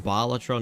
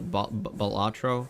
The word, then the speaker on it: Balatro: It's actually pronounced Balatro, not Bolatro, which is weird, but you can say it however you want.